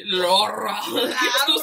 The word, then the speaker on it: Laura: L-A-U-R-A. Oh, Laura. Laura. Oh, this is a, I was like, oh, what's her name? She got Loud in her name. Oh, this Spanish. Laura. It's Laura. Laura.